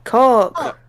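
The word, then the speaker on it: caulk: Coke when it was it's not C bring it's c a u l k Coke oh no no she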